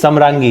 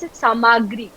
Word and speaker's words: Samrangee: So N is silent. Okay. So when people are pronouncing it, Samrangi.